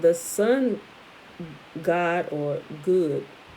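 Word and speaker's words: Gud: Further research revealed that these Teutonic druids, called the sun god or good, is spelled G-U-D, so I'm going to pronounce it like I said.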